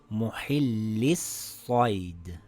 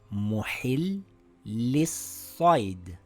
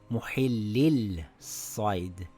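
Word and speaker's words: مُحِلِّي الصَّيْدِ: Now it reads Muhillis-Said. Muhillis-Said. Muhillis-Said. Notice how I didn't pronounce the lam? I said Muhillis-Said and not Muhillil-Said.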